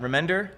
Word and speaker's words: Remender: Remender?